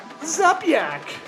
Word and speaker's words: Zupyak: Hey, we got a new sponsor, Zupyak. That's definitely how you say it. Zupyak? I even emailed to ask him phonetically how to say it.